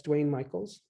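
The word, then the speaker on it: Duane Michals: are clear oh that's duane michaels d-u-a-n-e-m-i-c-h-a-l-s it's spelled unusually there's no e but that's dwayne michaels um eight megabytes yes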